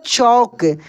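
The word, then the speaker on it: chalk: कहीं पर लिखा रहेगा चौक तो देखिए एक चौक आप देखेंगे ऐसे लिखा हुआ रहता है इसको चाक बोलते हैं इसका इंग्लिश होता है सी एच ए एल के ये चाक होता है चाक इसको पढ़ा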